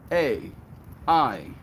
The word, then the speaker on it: Aidan: A-I-D-A-N.